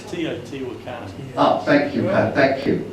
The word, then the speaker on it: Teotihuacan: This is Teotihuacan. That's probably the wrong pronunciation. The wrong pronunciation? It's Teotihuacan.